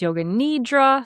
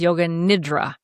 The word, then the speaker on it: Yoga Nidra: Sometimes you'll hear it pronounced Yoga Nidra, sometimes Yoga Nidra. It's the same thing.